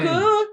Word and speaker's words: Mookho: me Mookho. Hi Mookho. But I remember when I was in the US, I once said to somebody, if you cannot snore, you cannot say my name.